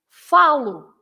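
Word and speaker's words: falo: the verb right because you say falar you you stress but then if you say I speak you should say follow you'll follow right is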